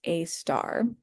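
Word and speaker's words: Sagittarius A*: hole that we call Sagittarius a star. Uh so this a with an asterisk that's pronounced a star.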